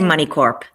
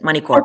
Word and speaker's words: Moneycorp: I say Money Corp. The P is there for a reason, so let's pronounce it. Money Corp.